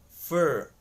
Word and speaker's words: for: short vowel sound so the word for gets reduced to fur fur which corresponds to the spelling f you are fur fur so native speakers